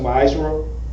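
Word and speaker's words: ma'aser: Tithes, which is a commandment, comes out of Numbers 18:21, Malachi 3:8-10, means pronounced ma'asra, tenth in the Hebrew, means tenth in Hebrew.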